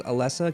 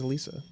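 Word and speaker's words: Elesa: It's just like Lisa with an E in front of it. That's what they say. I I thought it was Alessa cuz like electric, but like nope. Everyone in the anime says Alisa.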